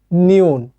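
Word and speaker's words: 니은: বর্ণ যেটার নাম আমি আপনাকে যে প্রথমে দেখিয়েছিলাম নিউন ঠিক আছে আর এইটা হচ্ছে এটাও কোরিয়ান একটা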